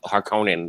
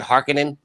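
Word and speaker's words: Harkonnen: the new ones in in the new Dunes they pronounce it harkening it's Honan it's haran I watch this movie a thousand times it's har Conan stop saying yeah stop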